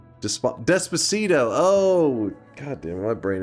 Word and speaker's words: Despacito: They said to play Dispacio. Dispacio. Despacio. Something like that. That's that meme song. Wait, what? How is it pronounced? Despacito.